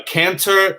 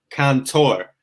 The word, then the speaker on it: cantor: like like something else a canter is like the spanish word kantar like singing it literally means to sing um so it's spelled with with the first letter c for cat a r s cantor so these these go